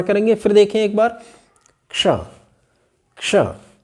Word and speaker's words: क्ष: हल्की सी क की आवाज़ आनी चाहिए। क, चूंकि हलंत है, आधा है, इसलिए हल्की सी आवाज़ पहले क की आनी चाहिए और इसके बाद मूर्धन्य श आना चाहिए और इस तरह से क्ष, क्ष।